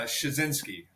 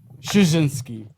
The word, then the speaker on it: Szczunciski: Smith you know Smith Smith it's uh shinski shinski shinski he knew are you are you I never